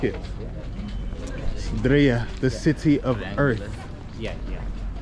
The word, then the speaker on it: Diriyah: Driya.